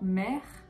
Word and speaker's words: mère: non par exemple dans mère ou père vous voyez la seconde syllabe que moi je ne prononce pas par exemple on aura